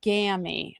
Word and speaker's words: Gammy: From first time signing up with YT, pronounced Grammy without the R, Gammy.